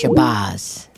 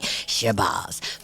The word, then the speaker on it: Shabazz: and forgive me, Ilyasah, because I always say accents, but it's Shabazz. Let's just say it right. Okay, everybody gets on me about not saying names right. Shabazz.